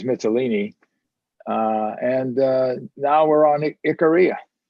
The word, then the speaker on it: Icaria: Icaria, I pronounce it. Others may say something else. Icaria is how I pronounce it.